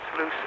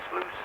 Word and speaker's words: Sluis: Radio Telex reports that a new station called Radio Mi Amigo from Sluis in Holland was heard with another test transmission on 6.296.